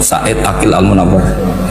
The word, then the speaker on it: Said Aqil Al-Munawwar: Memang bacanya harus urut Said Aqil Al-Munawwar. Karena sekali salah Said Aqil Sirat.